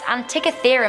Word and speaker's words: Antikythera: Coming into number 6, we have the mysterious Antikythera mechanism.